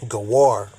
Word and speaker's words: Gawar: my name uh so Slovakia uh is actually pronounced gawar gawar Iran now I've seen a video that